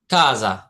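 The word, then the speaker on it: casa: সির উচ্চারণ সবসময় ক এর উচ্চারণ হয়। বলেন কাজা।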